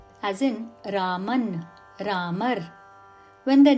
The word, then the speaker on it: राम: is why R is ram in Hindi thus local language variations confuse us when pronouncing Sansa and neither Ram nor Rama are correct forms only R is the correct samk pronunciation you may have noticed